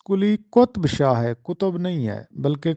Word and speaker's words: قلی قطب شاہ: جغرافیہ کو جگہ دی۔ تو یہ درست تلفظ قلی قطب شاہ ہے، قطب نہیں ہے بلکہ قلی قطب شاہ۔ چھٹا سوال ہے کہ